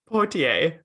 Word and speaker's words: Poitier: Poitier. Like, just, there's no N.